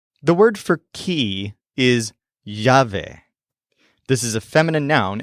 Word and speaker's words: llave: possible at lunch the word for key is jave this is a feminine noun and it's spelled l a v e jave for example